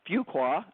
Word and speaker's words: Fuqua: of the podcast today getting to know Suzanne Fuqua.